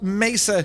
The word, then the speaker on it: mesa: Capat9 says, you pronounced mesa correctly. It's Spanish for table.